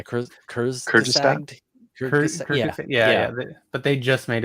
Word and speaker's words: Kurzgesagt: I always pronounce the name wrong, but Kurtzog, right? Yeah, Kurzgesagt.